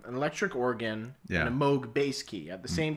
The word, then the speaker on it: Moog: would play um an electric organ and a moog bass key at the same time yeah you pronounce it correctly he will be very happy about that it's not a lot of people pronounce it moog but moog listen i might be a drummer but i'm